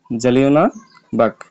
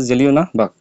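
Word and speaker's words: Jallianwala Bagh: যে জেলিওনা বাহ হ্যাঁ এটার নাম হচ্ছে যে জেলিওনা বাঘ এটার উচ্চারণটা হবে এরকম উচ্চারণটা সঠিক ভাবে তোমাদেরকে বলতে হবে এই যে এটার নাম হচ্ছে জেলিওনা বাঘ একই হত্যা এর কারণে উনি ন্যাটস উপাধিটা প্রত্যাখ্যান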